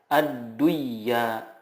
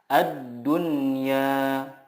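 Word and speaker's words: الدنيا: Contohnya ad-dunya, tidak dibaca ad-duyya, tetapi yang benar adalah ad-dunya. Bunyanun, qinwanun, sinwanun.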